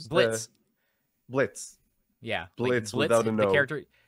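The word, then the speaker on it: Blitzø: the go guy B Blitz Blitz yeah Blitz the character yeah Blitz there's the oh is silent so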